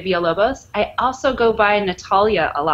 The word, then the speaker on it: Villalobos: So tortilla. Is pronounced like tortilla because two L's are pronounced like a Y in Spanish. So it's Villalobos.